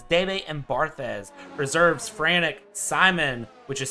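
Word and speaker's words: Scymon: and barthas reserves frantic Simon which is spelled s-c-y-m-o-n but we're gonna americanize it and pronounce it Simon it's Intex right matoff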